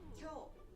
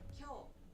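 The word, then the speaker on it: 今日: Kyou. Kyou.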